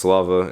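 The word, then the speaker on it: Слава: So glory is pronounced Slava in Russian.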